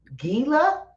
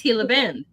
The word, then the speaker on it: Gila: Is it Hila? Hila. Hila. I I'm probably pronouncing it wrong. Yeah. G usually say Hila. I think it's Hila.